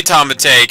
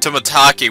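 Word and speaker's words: Tomitake: Man, even trying to say Tomatake, I almost said Tomataki, which is the correct pronunciation.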